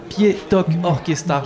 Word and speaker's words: Ktipietok Orkestar: est avec Fred de l' de la fanfare pi to orchestar je l'ai bien prononcé c'est parfaitement ça c'est parfait ça merci